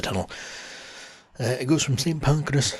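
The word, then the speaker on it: St Pancras: uh it goes from St panas station not see pancreas as Charlotte pointed out was mispronouncing it but yeah yeah you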